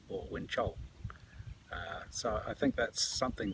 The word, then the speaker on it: Wenzhou: Just little simple things like understanding that the ZH, words starting with ZH or having a ZH in them, the ZH is pronounced a J or a Ch sound, not a Z sound.